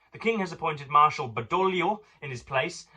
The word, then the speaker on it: Badoglio: The king has appointed Marshal Badoglio in his place. I believe the G is silent, and has himself taken over the command of the army.